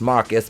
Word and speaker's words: Marquise: And Jada says, "Marquise," pronounced Marcus because he's fucking stupid.